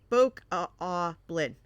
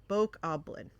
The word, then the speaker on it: Bokoblin: Oh, okay, so long O. Bokoblin. Bokoblin.